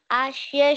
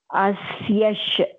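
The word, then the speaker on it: अस्य: Om Ashya Shri Vishnor. Om Ashya Shri Vishnor. Your Asya pronunciation needs some small correction. Asyash. Ya plus ish.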